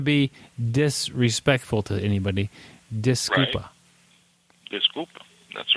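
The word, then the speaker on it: desculpa: It's me E. Um and then disco e s c u l p a.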